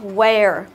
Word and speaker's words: wear: Đấy thì EA ở đây mình sẽ đọc nó thành một cái nguyên âm đôi. Đấy, mình sẽ đọc thành nguyên âm đôi chính là âm air, air. Đó, chính là wear, wear.